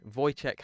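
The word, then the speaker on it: Wojciech: The idea was to watch three films by Voyt Now, how I I Googled how to pronounce his name. Voycheck. I think it's Voycheck Has.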